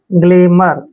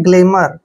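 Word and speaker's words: glamour: मैं करेंगे ठीक है ओ यू आर को यहां पर र पढ़ना है ठीक है एक तरह से ओ यू जो है यहां पर एक तरह से साइलेंट है ठीक है ना गलेमर देखिए ग्लेमो और नहीं पढ़ना है गलेमर गलेमर क्या होता है आकर्षण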